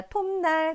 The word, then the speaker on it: 톱날: 자, 톱날 같은 경우에는 이 앞에 오는 비읍이 미음으로 발음이 된 거죠. 그래서 비읍이었던 파열음을 미음인 비음 으로 발음한 걸로 볼 수 있습니다. 이 비읍이 미음인 비음으로 발음된 이유는 뒤에 오는 이 니은이 비음이기 때문에 뒤에 오는 비음의 영향을 받아서 앞에 오는 비음의 좋은 방법을 바꿔서 비음으로 발음한 것입니다.